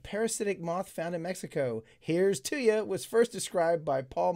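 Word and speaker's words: Heerz tooya: Here's Tuya was first described by Paul Marsh in 1993. And I looked it up. That's exactly how it's supposed to be pronounced.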